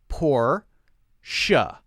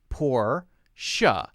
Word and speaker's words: Porsche: pronounced Porsche Porsche Porsche like SH sound even though it's not spelled with just an SH it's pronounced poor sure sure poor sha sha two syllables Porsche